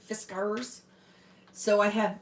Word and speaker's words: Fiskars: I worked for Fiskars that's how you say it like a pirate fiscars so I have like